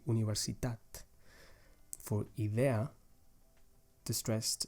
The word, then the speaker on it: universitat: For example, in the word universitat, the stressed syllable is the last one, tat. You say universitat.